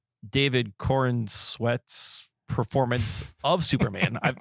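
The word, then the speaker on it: Corenswet: I just love how he put the emphasis on the sweat. It's Corin sweat.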